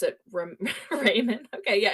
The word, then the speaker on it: Ramon: I would have said Ramon the way that name is spelled, but Richard It's O'Brien did ramen. pronounce it Raymond.